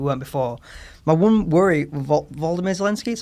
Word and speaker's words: Volodymyr Zelensky: My one worry, Volodymyr Zelensky, that's how you pronounce his name, right?